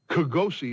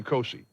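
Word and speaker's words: Kgosie: How would you pronounce that? Kogosi, it's not that. I think I heard her say Kosi. So we'll say Kosi.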